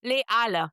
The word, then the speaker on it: Les Halles: I always Les Halles. Les Halles. You don't, yeah. I always mispronounce that one. No liaison, that one.